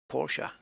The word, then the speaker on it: Porsche: liked Porsche and I even learned how to pronounce it correctly Porsche such was my love and uh and what